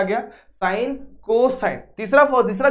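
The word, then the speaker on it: cosine: कॉस जो होता है ना, वो कॉस नहीं है, वो पूरा उसको अगर एक्सपांड करा जाएगा तो वो हो जाएगा कोसाइन। ठीक है, ये समझ में आ गया, साइन कोसाइन।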